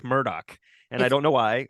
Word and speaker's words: Murdaugh: the first question is is it Alex or Alec and is it murder or Murdoch because apparently they pronounce it Alec Murdock and I don't know